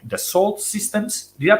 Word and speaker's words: Dassault: like European enterprises like Dassault Systems. Did I pronounce it correctly, Shiva? In French is Dassault, but Dassault, yeah. Dassault. Not that my French is really good, but it's Dassault.